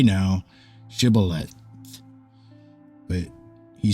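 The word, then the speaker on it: shibboleth: then they would say to him say now shth but he said calth for he could not pronounce it correctly Then They seized him and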